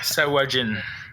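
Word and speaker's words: Sahuagin: si je vais dire tout croche, j'ai jamais regardé le prononcer comme faux, cette affaire-là. C'est un Shagwayen, une affaire de même? Sawajin.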